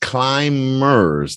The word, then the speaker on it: climbers: several and supports right climb MERS the bee is silent several many many other